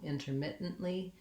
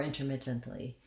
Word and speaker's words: intermittently: just the same thing, adding a li syllable, intermittently or intermittently. Again, we typically would not aspirate that T, intermittently.